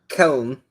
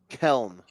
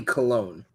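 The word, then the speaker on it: Köln: It's Keln. Keln. Huh. Okay. It's technically Cologne. Cologne. Yeah. Right. That is how they pronounce it.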